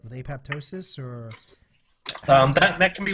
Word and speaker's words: apoptosis: now at this point I believe the proper pronunciation is apoptosis but so many people call it apoptosis now okay I'm in